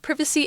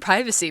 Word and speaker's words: privacy: this issue AHA and I noticed that you said both privacy and privacy yes I'm not consistent both pronunciations are okay privacy privacy I tend to say privacy